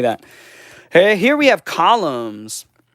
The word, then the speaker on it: Columns: Hey, here we have Columns. Koramus. That's the Japanese pronunciation.